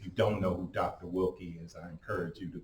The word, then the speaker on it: Willke: Jack Wilkie to our church to speak. If you don't know who Dr. Wilkie is, I encourage you to Google him.